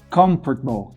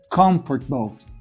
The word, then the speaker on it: comfortable: Olha só, comfortable, comfortable, interesting, interesting, vegetable, vegetable. Percebe? Olha só, é como se aquela segunda sílaba ali, é como se aquele O ali do comfortable não existisse.